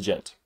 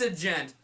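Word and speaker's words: Djent: a touch of the Gent this is not pronounced a gent the D is silent anywho stepping up to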